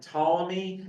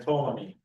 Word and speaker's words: Ptolemy: He grew stronger than Ptolemy. I think the P is silent, right? Ptolemy, yeah, I think it is.